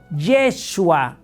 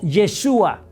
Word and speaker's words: Yeshua: Porque en hebreo no se dice Jesús, se dice Yeshua o Yeshua.